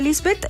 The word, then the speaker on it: Liesbeth: eh estamos con Lisbeth van derm así se pronuncia Lisbeth directora deana Chila Cómo estás Lisbeth Gracias por